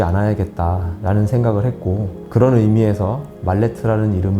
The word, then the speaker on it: 말레트: 말레트 나무 망치라는 뜻입니다 물론 영어 발음으로 읽으면 전혀 다르게 읽히지만 한국식 영어로 말레트 아고 말하는게 조금 더 자연스럽습니다 가구 작가가 되겠다고 생각하기